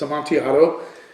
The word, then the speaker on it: Amontillado: It's Amontillado, Manazanilla, Amontillado. They don't say their L's.